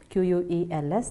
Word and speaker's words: quel: Pronunciation of all the 4 words is quel. Okay, it goes just quel.